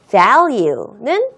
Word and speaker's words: value: V 발음을 할 때에는 내가 윗니를 아랫입술이랑 한 번 더 스쳐야 되겠구나라는 것을 머릿속으로 의식하면서 value 하면 안 되는 거예요.